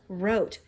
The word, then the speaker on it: wrote: Now if you look, wrote has the W-R, right? Well, this time, that W is silent and it stays quiet. And all we hear is that bossy R saying its sound.